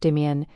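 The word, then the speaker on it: demesne: Demens pronounced demian is the portion of the manner the lord farms directly for himself using surf labor.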